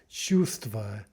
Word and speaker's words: чувство: Similarly, the word for feeling is чувство, чувство, not чувство. The word for sun, the L drops out, so солнце, солнце.